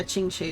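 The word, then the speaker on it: Qingque: Yeah, Chingchi is her pronunciation.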